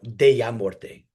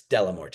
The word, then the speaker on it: Dellamorte: Yeah, so some of the pronunciation, like I would normally say, you know, Dellamorte, Yeah. right? That would be my Spanish pronunciation. They're like, no, it's Dellamorte.